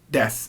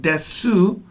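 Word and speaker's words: です: and by the way even though that is pronounced it looks like it's pronounced dead soo and just like this last one uh Thomas you must sue that is silent the final you sound is silent it's very common in a lot of Japanese words that they don't over pronounce that ooh Tomas Tomas there's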